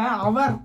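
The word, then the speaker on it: hour: சொல்லிக் கொடுத்துருக்காங்கன்னு நீங்க நினைக்கலாம் ஆனா இங்க ஹச் ங்குறதுக்கு உச்சரிப்பு கிடையாது இதை நம்ம அவர்ன்னு தான் சொல்றோம் அப்படிங்கிறப்ப இது ஆள் ஆரம்பிக்குது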